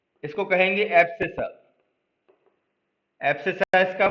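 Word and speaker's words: abscissa: ए बी एस सी I double S A assess कहते हैं।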